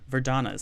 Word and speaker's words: Verdana: recently switched to veranda or Verdana ver Donna's how you say it I was I was saying it wrong do I have for